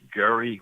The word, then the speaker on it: Gerry: points of correction um it's Elbridge Gerry with a hard G right okay and the